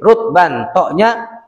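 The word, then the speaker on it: رطبا: biji dengan menjual sejenisnya bacanya bisukuni thoi dengan huruf tho nya pakai sukun Al muhmalah dan tidak bertitik berarti bukan zo Bukan rusban tapi rutban sukun ya tidak boleh menjual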